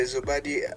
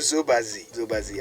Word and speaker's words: Zobazi: Now this is the Zobody. It's called Zobazi. I got the name wrong.